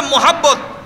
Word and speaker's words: মাহাব্বত: মোহাব্বত মানিও ভালোবাসা, মাওয়াদ্দাত মানিও ভালোবাসা। বলেন মাওয়াদ্দাত, খন না কেন? মোহাব্বত শুদ্ধ উচ্চারণ হলে মাহাব্বত, আমরা বলি কি মোহাব্বত, আরবিতে বলা হয় মাহাব্বত।